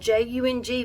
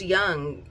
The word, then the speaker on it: Jung: remember she was like it's spelled j-u-n-g but it's pronounced young and but then i've